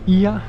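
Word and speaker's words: Oia: And here I am. I just made it to Ia. They told me that O and E in Greek, you pronounce it E, so it's not Oya but Ia.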